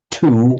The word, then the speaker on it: two: and di in parley in English two we write the w but we don't pronounce it it's the same word